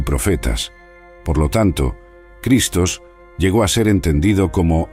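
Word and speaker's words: Χριστός: La frase clave Yo soy el Cristo se pronuncia Ego eimi ho Christos.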